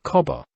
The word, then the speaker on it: Cabba: kindly rebuke as to the local pronunciation of Cabba being Cobber put me in an